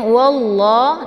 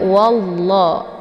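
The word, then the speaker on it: والله: fathah yaitu wa ya jadi cara bacanya wallah ditebalkan bukan walla ya tapi walla dan untuk lam ini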